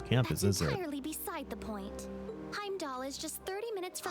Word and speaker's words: Heimdallr: entirely beside the point Heim doll is just 30 minutes from by train so you do not pronounce the r add 20 more minutes